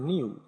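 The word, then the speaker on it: GNU: এটার উচ্চারণ আসলে জিএনও না অনেকে জিএনও বলে অনেকে গেনু বলে এটা আসলে উচ্চারণ প্রকৃত উচ্চারণটা হচ্ছে নু অথবা নিউ ঠিক আছে তো কেউ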